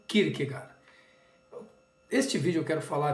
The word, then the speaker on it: Kierkegaard: grande filósofo soren Kirk alguns pronunciam kirker gor porque diretamente do din Marquez enfim mas é conhecido como Kirk gar este vídeo eu quero